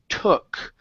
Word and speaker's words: took: is uh the word took so here instead of saying to with an U okay it's toque it's uh T tu tu took there you go good